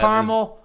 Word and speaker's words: caramel: You know why I'm okay with caramel? Because you pronounced every A.